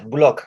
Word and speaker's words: Boulocq: course of course uh i hope i pronounced your last name correctly is that is that how you say it yes block yes look okay all